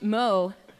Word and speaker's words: Mot: And up next, we welcome Lady Mott, pronounced Moe, to the stage.